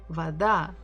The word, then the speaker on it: Вода: Вода, вода, вода, вода. And again, or is not stressed. That's why we say it as va.